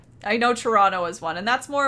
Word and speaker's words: Toronto: Toronto. I know Toronto is one, and that's more of like a local thing. You're not pronouncing the T. It's Toronto, N-N-O.